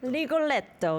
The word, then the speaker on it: Rigoletto: I'm not pronouncing it perfectly, but it's Rigoletto, right? Rigoletto, yes.